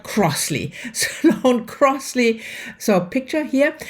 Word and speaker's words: Crossley: And that is Sloane, and I always get the R in the last name wrong, not Crossley, but Crossley.